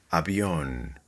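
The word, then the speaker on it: avión: Habion, a plane. Habion. Clearly, the accent here is on the last syllable, on.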